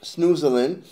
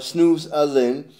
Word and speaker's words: Snoezelen: by two dutch therapists the dutch hybrid word pronounced snoozling or snooze other than directly translates and sniffing